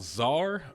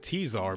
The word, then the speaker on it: czar: nice it was called czar burden of the crown when I was a little kid I thought it was actually pronounced tease our burden of the crown but it is not so that is a